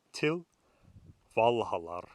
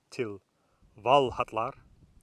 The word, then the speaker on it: til Valhallar: to Valhalla to Valhalla now that is reconstructed medieval pronunciation if you want to say it with modern Icelandic pronunciation it still Valhalla to Valhalla with the significant change being that double-l goes from sounding like well a double L to TL now the runes that